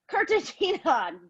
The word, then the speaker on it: Cartagena: ] damn it i'm gonna keep on freaking pronouncing it wrong damn it cartagena damn it heyna cartagena dammit cartagena doodling pan